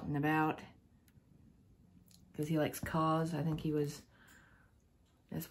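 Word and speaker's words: KAWS: And this is Hobie out and about because he likes Cause. I think he was, that's what his mask is, it's Cause.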